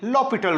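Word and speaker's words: L'Hôpital: ओ infinity form apply लो पिटल rule लो पिटल rule लो पिटल rule हॉस्पिटल के जो spelling है वही वाले हैं ल पिटल रूल कहता है के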